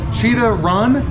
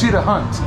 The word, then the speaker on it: Cheetah Hunt: okay so i like i said it wrong a little bit ago i was like cheetah run but it's cheat a hunt yeah is it that